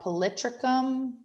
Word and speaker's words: Polytrichum: Some of the mosses you'll see in lab are Polytrichum, that's how you say that, and Nium, kind of like Bill Nye, Nium.